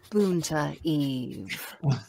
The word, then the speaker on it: Boonta Eve: Boonta Eve. Every time. Every time. That's how you have to say it. Boonta Exactly. Eve. There's a proper way to say it, and that is definitely it.